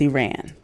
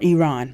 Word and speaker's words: Iran: Three songs written during economic uncertainty and ironically written during promotivated conflict with Iran. And so or Iran, let me pronounce it correctly.